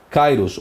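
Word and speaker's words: καιρός: Porque o tempo aqui no grego é kairos, ou kairos, como alguns queiram pronunciar.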